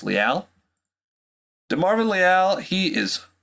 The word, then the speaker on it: Leal: next guy I got here is de Marvin Leal I glad I watched a YouTube video first cuz that is how you pronounced it it is not Le it's Leal de Marvin Leal he is he hails from